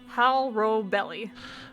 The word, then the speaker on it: Hal Robelli: Hal Robelli. Hal Robelli. Yeah, Okay. it's like you're saying how. It's like saying hello, like a dumbass, and then belly.